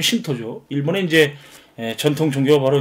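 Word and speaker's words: Shinto: 신토라고 하는 것은 일본 전통 종교인 신도를 모시는 사원 신 신 신 신신 신도 신도의 일본식 발음이면 신토죠.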